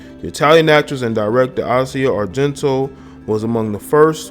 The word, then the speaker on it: Asia: That's how they pronounce her name, Asia.